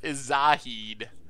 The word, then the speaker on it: Zahid: Actually, Salad is Zahid. Jinn of the Lamp. I was apparently saying it wrong and it sounded like Salad, so now we call it Zahid.